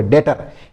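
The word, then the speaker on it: debtor: उसको क्या बोलोगे? डेटर। यहां पर भी बी साइलेंट रहता है।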